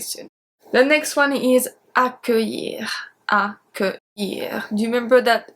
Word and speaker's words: accueillir: Do you remember that accueillir has a very specific spelling? It's C-C-U-E-I-L-L. So we put the U after the C, so the C stays as a hard C, not as a soft C.